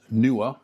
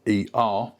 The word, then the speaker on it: NEEWER: I have here the NEEWER. Some people might pronounce it as NEEWER. It's NEEWER.